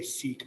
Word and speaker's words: Sikh: I need them to understand what I'm saying, and so I say Sikh on purpose. I purposely choose to pronounce it the American way, but I am aware of the correct way to say it, okay?